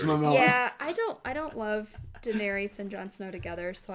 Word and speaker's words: Daenerys: just makes it makes the most sense to me that Jon Snow and Daenerys are Daenerys. How do you say her name? Daenerys.